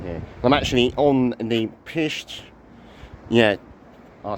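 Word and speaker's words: Pictish: P-I-C-T-I-S-H. Yeah, pished. Yeah, you try and pronounce that differently.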